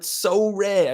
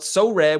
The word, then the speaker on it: Sorare: That's spelled Sorare, which is S-O for so, and rare as in R-A-R-E.